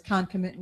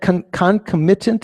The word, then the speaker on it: concomitant: So concomitant, is that concomitant? Is that sort of British pronunciation? Don't we say concomitant?